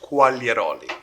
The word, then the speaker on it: Quagliaroli: It's pronounced Quagliaroli. The G is silent.